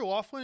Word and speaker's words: Loughlin: Lori Loughlin, it should be pronounced Lori Loughlin. Yeah, That's definitely the correct pronunciation. Yeah, you're right. That's how you pronounce any Irish name that ends with if it's O-U-G-H, it's Auk.